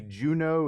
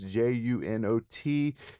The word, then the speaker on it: Junot: I'm assuming it's Sydney Juno. It's Junot.